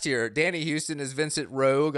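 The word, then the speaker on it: Roeg: Danny Houston is Vincent Rogue. I love how Rogue is spelled weird. Yeah, R-O-E-G.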